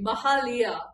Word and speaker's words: Mahalia: Let me pronounce her name correctly. Mahalia.